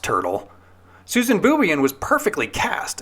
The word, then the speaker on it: Turtle: This could be why Zack pronounces Lisa's family name like this. Excuse me, Dr. Turtle. Very probably not. The last name is pronounced Turtle.